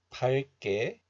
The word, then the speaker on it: 밝게: This letter is pronounced as 박 in isolation, but when this letter is used together with another letter, then the hidden 리을 sound regains its value. So it is pronounced as 발.